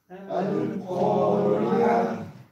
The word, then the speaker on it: القارعة: القارعة. القارعة. القارعة. Здесь ро читается мягко. Почему? Потому что с касрой, да.